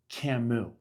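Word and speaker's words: Camus: For those of you who don't know, I said to her, just so you know, his name is pronounced Camu.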